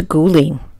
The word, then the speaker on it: Guling: kouang and welcome to guling they're one in the same place guling is the town's name in Mandarin and kouang is how